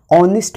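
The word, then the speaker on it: honest: For example ऑनेस्ट मैन, तो हम यहाँ पे लिखेंगे एन ऑनेस्ट man, because ऑनेस्ट का एच साइलेंट हो जाता है और बोलने में प्रोनाउंसिएशन पहले ओ से शुरू होता है।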